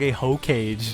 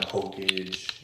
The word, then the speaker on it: Hokage: the mayor I guess no he he he pronounced Hokage H cage dude he said he called Naruto young H cage king of his village bro shout out to kusma he's dope young Sensei young Hokage you know king of his village damn wow